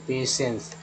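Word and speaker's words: patience: तो इसका उच्चारण है पेशेंस।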